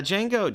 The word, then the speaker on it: Django: this films he never you know the me is silent yeah Jango Jango was loved I mean everyone loved Jango